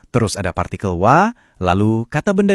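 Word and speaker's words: は: Soalnya walaupun ditulis pakai huruf hiragana untuk H, pas dia jadi penanda topik, kita bacanya wa.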